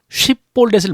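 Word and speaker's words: 쉽볼렛: 그래서 에브라임 사람들이 요단강을 건너서 도망을 가는데 길르앗 사람들이 요단 나루터를 점령을 하고 쉿볼렛이라고 시켜서 쉿볼렛을 못하고 십볼렛이라고 발음을 하면 잡아 죽였는데요.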